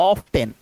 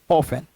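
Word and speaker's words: often: अक्सर ऐसा होता है तो इसके अंदर टी साइलेंट होता है तो हम लोग कैसे पढ़ते हैं ऑफेन ठीक उसके बाद आइए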